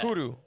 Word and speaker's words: Kuru: uh her name she you're supposed to like hit the r Tom Tom talked about this it's technically pronounced like Kur Kuru Kuru no like yeah like that Kuru yeah Kuru is a